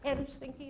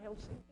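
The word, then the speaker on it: Helsinki: just way with Finnish the first syllable is pronounced usually in Finnish so it's h sinky and not hell sinky heard these things as we yeah and it's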